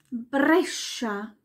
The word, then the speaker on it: Brescia: SC vor E und I wird als Sch ausgesprochen. Sch. Wie zum Beispiel Pesce. Das ist der Fisch. Pesce. Oder Brescia. Oder Sciroppo. Der Sirup. Sciroppo. Alles wie ein Sch.